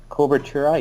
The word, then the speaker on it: Cobertura: And then another property, coverlet output format equals, I have no idea how to pronounce this, cobertura, C-O-B-E-R, C-O-B, as in Bobby. B, yeah, cobertura, yep.